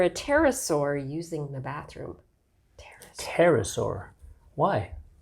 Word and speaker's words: pterosaur: pterosaur using the bathroom pterosaur why because the P is silent now back to our